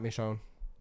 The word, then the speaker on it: Michonne: Not a fan of the show or the game, so if I pronounced that wrong, I'm sorry. You got it right, Michonne.